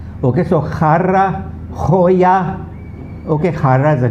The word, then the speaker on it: jarra: Those who can't pronounce the he's pronounce it as harra, ha, like in ha, harra. Okay, so jarra, joya.